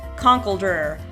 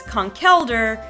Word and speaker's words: Conkeldurr: how it was pronounced my immediate instinct was Conkeldurr because he kind of had this look on his face that was like her you know he's all muscle no brains kind of a thing so I thought Conkeldurr but when I finally found out that his name was conch elder it made a lot of sense to me to be